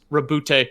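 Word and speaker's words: Roboute: long after the legion like a quote from rabootie gullyman and it's just it's pronounced rabute yeah uh yeah yeah everybody boys everybody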